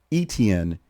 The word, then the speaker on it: Etienne: his college career where coaches and teammates struggled to pronounce his last name correctly. And after repeatedly correcting people without success, he gave up. He just said, fine, it's exactly how it looks. ETN.